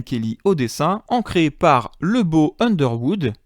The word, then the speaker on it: Lebeau: au dessin, ancré par Lebeau Underwood. Oui, le mec s'appelle bien Lebeau, je confirme, hein, et ça s'écrit Lebeau, comme on pourrait dire « Oh, le beau garçon de Supplément Geek, comme